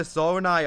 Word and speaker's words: Zonai: And number 2 is the Zonai tribe, or Zona if you prefer the Japanese pronunciation.